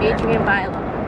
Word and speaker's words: Adrienne Bailon: Or Bailey. How do you say her name? Bailone. Whatever. Adrienne Bailone.